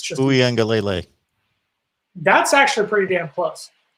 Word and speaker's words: Uiagalelei: Just pronounce the name. It's just Uiagalelei.